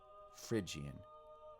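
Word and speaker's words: Phrygian: four basic modes Dorian frian lydian mixian you might be able to remember this if you remember that don't pinch Little Monkeys Dorian lydian frian spelled with a p mixian don't pinch little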